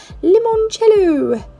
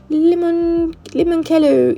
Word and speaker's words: limoncello: Limoncello. Limoncello. It's not cello. You don't say it like that.